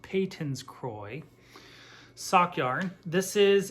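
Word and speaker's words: Patons: uh a viewer did correct me that it's pronounced patents so this is payton's croy i pronounce the patents because that's what everyone in their mom calls it but apparently it's pronounced peyton's croy sock yarn this is in the color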